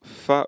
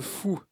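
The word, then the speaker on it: Faou: je vais m'arrêter au fA ou la conductrice rigole et elle me dit ça se dit le fou en breton on ne prononce pas toutes les lettres les Bretons ont leur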